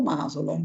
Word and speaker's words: Masolo: Allora, noi abbiamo chiamato, scusa, dove va l'accento, Masolo o Masolo?